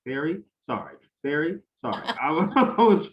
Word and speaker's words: Sari: It's so hard to explain that to people too, because it's spelled Sari, and I always have to explain it's like Mary, but with an S and an I I.